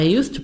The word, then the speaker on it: used to: D is silent in used to. This one, D silent. Example. When I was a child, I used to play the trumpet. This is the trumpet, and I used to play the trumpet. So D silent.